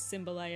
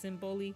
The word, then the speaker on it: Symboli: I see some people um pronounce her name Symboli. I thought it was Symbolai at first, but it's Simboli.